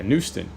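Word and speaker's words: Knuston: You know, is it Newston? Yeah, Newston. K-N-U-S. I think I even spelled it wrong in the video yesterday. I didn't just say it wrong, I spelled it wrong too. K-N-U-S-T-O-N, Newston.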